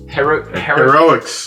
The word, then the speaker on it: Heroics: I haven't picked up many of these limited run games, but this is One Way Heroes, One Way how do you pronounce that? Heroics. Heroics, thank you.